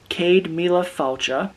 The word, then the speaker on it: Céad Míle Fáilte: But what this says, Céad Míle Fáilte, yes, that is how you pronounce it, is Irish for 100,000 welcomes.